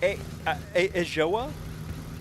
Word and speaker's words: Ajoa: Oh, it's pronounced Ajoa? Ajoa? Ajoa. That is what it looks like, and I assumed it could not possibly be. But Ajoa it is, I suppose.